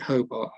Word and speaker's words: Hobart: Now, I've been told by a very posh lady I should pronounce it Hubbard Hampden. But I'm sorry, I'm going to be defiant about this and call it Hobart Hampden.